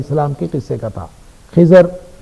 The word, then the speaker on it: خضر: کے قصے کا تھا۔ خضر جس کا درست تلفظ خضر ہے عربی کے اعتبار سے، ہم اردو میں اس کو خضر کہہ دیتے ہیں، تو خضر اور موسیٰ